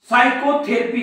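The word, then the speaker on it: psychotherapy: P silent आहे सायकॉलॉजी सायकोथेरपी तुम्ही असं म्हणतात का पी सायकोथेरपी किंवा सायकोथेरपी नाही हा पी सायलेंट असतो सायकोथेरपी अशा प्रकारचे सायकॅट्रिस्ट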